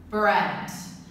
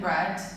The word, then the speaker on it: bred: labrador the last word bread now the first and the third word are homophones that's because we pronounce the same but their spelling is different bread bread the second bread is a verb and